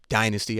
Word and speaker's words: Dynysty: All you got to do is type in her name, Dynasty. I'm going to spell it for you again. DYNYSTY.